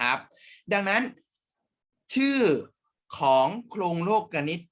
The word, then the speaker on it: โลกนิติ: โครง สี่ สุภาพ แล้ว โลกนิติ ตัว นี้ ไม่ ได้ อ่าน ว่า นิติ นะ ครับ ตาม หนังสือ ของ นัก เรียน เลย นะ ไม่ ได้ อ่าน ว่า โครง โลก นิติ อ่าน ว่า โครง โลกนิติ